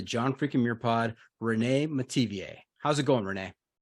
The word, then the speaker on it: Metivier: Welcome to the John freaking Muir Pod, Renee Metivier. How's it going, Renee? It's going good. Hi, everybody. Did I get that last name right? You did very well. Metivier, okay. Like Perrier.